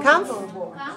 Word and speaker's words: comfortable: Okay, so just say comfortable. Where is the stress? 1, right. Stress the first syllable.